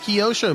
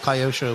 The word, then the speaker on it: Kyosho: FR of B man it is pronounced kosho maybe for you guys but in my language English KY says Kai so kyos show I think it doesn't really matter I've called it Kyosho my entire life everybody I grew up around that raced RC car said Kyosho uh some people say